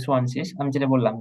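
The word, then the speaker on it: zwanzig: সোয়ানশিস। আপনি জানেন তাই বলছেন যে সোয়ানশিস, আমি যেটা বললাম যে মানে সেন সেন কেন হলো না?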